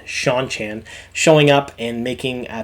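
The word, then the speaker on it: Seanchan: sh the sean chan i can never say their name properly it is sean sean chan showing up and making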